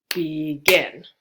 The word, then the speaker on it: begin: where the stress falls so begin and then happen is captain happen so the stress is on the first syllable happen versus begin so you can probably